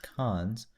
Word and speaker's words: cons: The list constructor operator, written : and pronounced cons, is used to add a value at the head of a list.